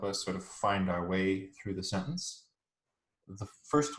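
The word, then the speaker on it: は: Particles are little grammatical words, and in Japanese they help us sort of find our way through the sentence. The first one, pronounced wa, is the topic marker.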